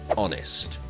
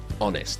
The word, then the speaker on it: honest: the next one is honest honest so of course it's the H and then one of